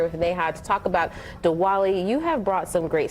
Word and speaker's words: Diwali: All right, so before we go any further, am I pronouncing that correctly? Am I saying, I said Diwali? Yes, Diwali.